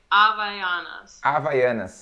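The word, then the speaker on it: Havaianas: actually no we don't in the beginning of this of a word no it doesn't have a sound here for you it's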